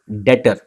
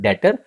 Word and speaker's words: debtor: deor it is called Detter B is silent but spelling is a part of sorry this word is a part of your spelling when you write it but it is called detor or we call it